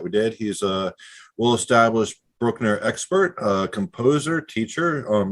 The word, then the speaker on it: Bruckner: actually pronouncing it the way it should be pronounced is brookner not bruckner so uh now that that's out of the